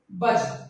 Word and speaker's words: budge: और last word है बज, याद रखिए BUDGE। यहाँ पर डी का प्रोनाउंसिएशन साइलेंस रहता है, याद रखिएगा।